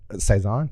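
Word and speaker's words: Cézanne: um you should be proud that I actually pronounced that correctly Saison yeah yeah well you took French in high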